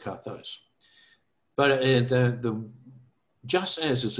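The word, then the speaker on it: καθώς: So you got there kappa, alpha, theta, omega, sigma on the end. So it's pronounced kathos.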